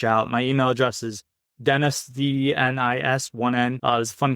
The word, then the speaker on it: Denis: So my name is spelled with 1N. And if you think about it, it's just Denis.